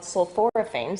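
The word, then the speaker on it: sulforaphane: something in them called sulphoraphane so say that 10 times sorane that's a four- syllable word Dr chelse that's right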